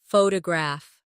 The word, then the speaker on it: photograph: Now photograph. The stress is on the first syllable.